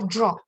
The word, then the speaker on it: draw: Ajá, este verbo se pronuncia draw, con una O Drawing. secita y larga.